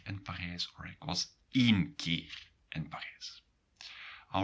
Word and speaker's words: één: Then you have to really make a difference in the pronunciation. Ga één keer, and not ga een keer naar daar.